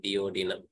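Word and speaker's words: duodenum: enter to the diodynamics the right pronunciation you can say deodino after that dodynam did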